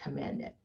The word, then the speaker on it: Command It: Well, I want to start with, I am the executive director for Command It, and we pronounce it Command It.